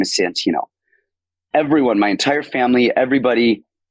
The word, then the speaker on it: Santino: so now I've started like really like enunciating Santino so people like oh that's an a not